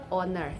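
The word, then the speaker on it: honour: totally silent like y w x y y owner h o n o u r owner uh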